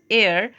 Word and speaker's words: heir: Okay, उसने सिर्फ और सिर्फ अपने डेथ बेड पर अपने बेटे को और अपने एयर, HEIR, इट is pronounced as एयर, एंड इसका मतलब होता है उत्तराधिकार।